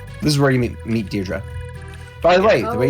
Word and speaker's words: Deirdre: This is where you meet Deirdre. By the way, the way you pronounce right, that yeah. name, the way you pronounce that name is Deidre.